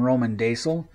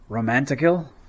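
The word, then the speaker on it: Rómendacil: I am Roman Daisel. I guess I've been pronouncing my name wrong. It should be Romanticil.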